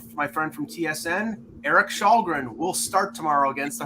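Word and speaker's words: Källgren: It's Kallgren. No, it's Shalgren.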